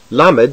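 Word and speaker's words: למד: accentuated in the manuscripts lamid sounds like the light l as in let not like the dark l as in all is pronounced like m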